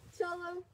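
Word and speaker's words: Xolo: I'm Cholo. Maybe you can see. X-O-L-O, but it's pronounced like C-H-O-L-O.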